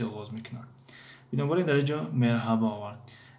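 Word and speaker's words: merhaba: مرحبا این طرز تلفظش است یعنی یکی از طرزهای تلفظش. باز هست مرحبا یعنی ه تلفظ نمی شود. در بعضی از مناطق ترکیه یا که در بعضی از شهرهای ترکیه یعنی مرحبا میگویند. مرحبا باز یعنی مرحبا یعنی هر دو رایج است یعنی هم مرحبا و هم مرحبا.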